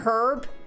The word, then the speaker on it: herb: just say herb herb did i really just pronounce the h and herb herb leave me alone i